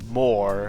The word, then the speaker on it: Mor: Together, they're the Mor system, as in more boosters, more planets, more things. It's a little hard to pronounce since Mor, the planet, and Mor as in the whole binary system sound exactly the same in pronunciation, so fortunately it may